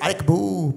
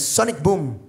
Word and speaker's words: Sonic Boom: Y el pinche, ahí entendí que el Guile dice Sonic Boom. ¿Cómo? Sonic Boom. Nunca hay una A, siempre dice Arek Boo, pero no, es Sonic Boom.